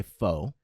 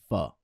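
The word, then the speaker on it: phở: some people say pho. No. But if Say I can make pho. the correction here on this podcast and let everybody know that it is pronounced pho.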